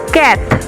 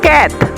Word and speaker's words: quatre: 4, quatre. It's not quarter, it's cat.